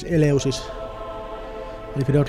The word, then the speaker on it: Eleusis: Anyway, I'm gonna do the Finnish pronunciation of this Eleusis.